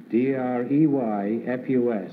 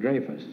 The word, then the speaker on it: Dreyfus: D-R-E-Y-F-U-S is the way it's spelled. Apparently, it's pronounced Dreyfus. I've always called it Dreyfus.